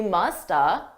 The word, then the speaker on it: must have: I reduced that entirely to just uh you musta. You musta. I could also reduce it to more of an of sound which is very commonly done by native speakers.